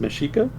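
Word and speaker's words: Mexica: Mexico is named for the meika people pronounced mesika is it and noad should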